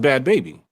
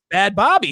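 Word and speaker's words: Bhad Bhabie: it was bad baby no it's bad it's pronounced bad baby not a bad bobby she's from she's from she's from uh the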